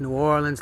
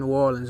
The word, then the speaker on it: New Orleans: a lot of them, they don't even pronounce it the correct way. They say New Orleans. Especially people from New York City, they say New Orleans, and you know, that's cringe to me. I don't understand. Like, if you're gonna say it right, man. We don't say it like that. We say New Orleans, not New Orleans.